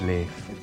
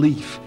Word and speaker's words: Leif: I remember doing a big debate at school, but actually no, it's not Leif, it's Leif. I always pronounced him Leaf at the time.